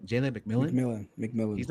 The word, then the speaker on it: McMillan: Jalen McMillan.